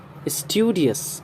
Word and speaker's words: studious: Studious, studious. Studious जो मैंने बोला, डस बोलेंगे तो रॉन्ग हो जाएगा, डी के बाद आई है, यानी ई साउंड आना चाहिए।